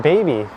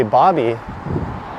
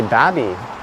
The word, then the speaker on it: Baby: The see the sign says BABY point. But it is not baby. A lot of the locals will say Bobby, and some will say Babby.